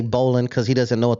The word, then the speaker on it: Baldwin Park: you from he's from Baldwin Park but he pronounces it Baldwin Park Parkway Baldwin Park so even then Adam can't say bowlan because he doesn't know what the bowan is